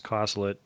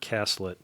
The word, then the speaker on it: Coslett: The other tight end for the Bengals was Bruce Coslett, who later became head coach of the Jets from 90 to 93. Pronounced differently. The Charlie Jones mispronounces it Caslett.